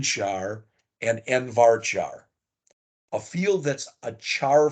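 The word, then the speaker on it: nvarchar: that these things they look weird they're actually pronounced Char varchar n Char and n varchar a field that's a Char field is a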